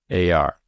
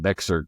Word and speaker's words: Bexar: And when they said it, I live in Bexar County, right? But it's spelled Bexar.